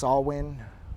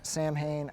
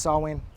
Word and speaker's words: Samhain: like to say that i know that it's pronounced sawwin or a variation thereof and it's not samhain i probably neglected to point this out in